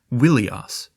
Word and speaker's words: Ilios: Let's just say that one Greek name for Troy was Ilios, but they originally pronounced Ilios with a W, saying it Wilios, not far at all from the Hittite name Welusha.